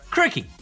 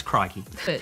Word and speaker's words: crikey: are Aussie as mate crickey I'm sorry that's pronounce crikey look with the exception